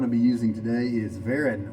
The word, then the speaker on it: Varen: be using today is veran or fern i think is how you actually pronounce it it was made with